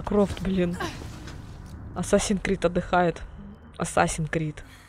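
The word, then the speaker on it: Assassin's Creed: Ассасин Крид. Вот правильное произношение.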